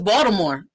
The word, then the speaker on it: Baltimore: people say it yes it's spelled with a t no one from box tomorrow everyone says baltimore like with a d so you could